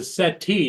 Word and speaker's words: settee: Well, I think they pronounce it as a settee, don't they? That's why it's got double E settee.